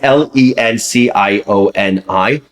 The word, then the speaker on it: Lencioni: I never pronounced his name correctly. Some people say Lencioni. Some people say Lencioni. It's Lencioni.